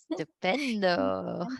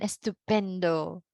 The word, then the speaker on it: estupendo: Stupendo. Okay. You have to be careful, no? Baka later you will say stupido. Okay? Right? Ayan, estupendo. Alright.